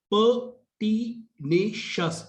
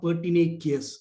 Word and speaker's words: pertinacious: Please note the word is pronounced as pertinacious. It is not pertinacious, as some asked me how to pronounce it. It's when the word is ending with cious, it's shus.